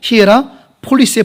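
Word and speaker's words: 히에라폴리스: 그 히에라 폴리라 그러는데 정확히 말하면은 볼리가 아니라 그건 우리나라 발음이고 히에라 폴리스의 폴리스 옛날에 사회 시간에 배우셨죠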